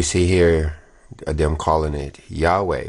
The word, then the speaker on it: Yahweh: here them calling it yahweh which like you said is only two syllables i don't i don't